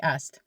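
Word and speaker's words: است: Name ma Valerie ast. All right? Notice how I didn't even say the hast, I just said ast.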